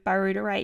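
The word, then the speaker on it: butyrate: they they produce birate so it's spelled b u t y r a t e so barud is how I say it you would look at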